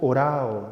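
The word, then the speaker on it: ὁράω: El verbo usado en esta ocasión por el evangelista para indicar esta acción de Jesús, perdonen ustedes, es el verbo orao, se pronuncia así, que significa mirar, pero no un mirar cualquiera.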